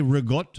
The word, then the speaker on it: ricotta: Ricotta. Oh, no, they say rigot. I'm like, what language? Yeah, rigot.